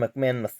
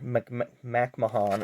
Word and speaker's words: McMahon: I believe Felix Sabates actually owned this team because the owner, Sam McMahon III, or McMahon as they pronounced it on there, backed out,